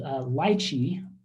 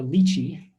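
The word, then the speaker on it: Litchi: So we're going to use a software package called Lychee or Lychee, depending on how you want to pronounce it, to make this flight plan.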